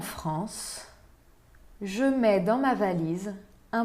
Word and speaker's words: valise: Dans ma valise, valise. Né? Se insiste no I na penúltima sílaba, porque a última sílaba contém um E mudo.